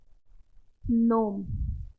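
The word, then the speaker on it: gnome: साइ है तो क्या हो जाएगा य साय नोम जी क्या है साइलेंट क्या बोलेंगे नो न अब देखेंगे ऐसे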